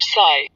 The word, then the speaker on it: Si: The 6 sounds are Zu, pronounced like shush, with a deep sigh, which is associated with the liver. He, pronounced like her, with a yawn, which is associated with the heart. Si, pronounced like sir, with a slow exhale, which is associated with the lungs.